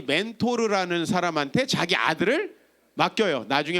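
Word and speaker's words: Mentor: 그 사람이 멘토예요. 사실은 사람 이름이에요. 멘토르. 근데 이제 영어로는 R 발음을 안 하니까 멘토가 되는 거죠.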